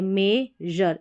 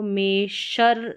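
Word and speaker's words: measure: है, तो यहाँ पर A है मेजर, इसको मेशर नहीं पढ़ेंगे, मेजर यानी जर करके इसका उच्चारण होगा।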